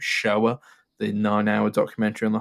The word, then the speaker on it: Shoah: It's the second longest film in the list, with the longest one being I'm going to say it's pronounced Shoah, the 9-hour documentary on the Holocaust.